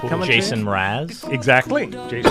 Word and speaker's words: Mraz: He had an album called Mr. A to Z because that's how you spell his name.